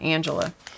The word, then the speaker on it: Angelia: her last name her she spells her first name like Angelia but she pronounces it Angela and she she was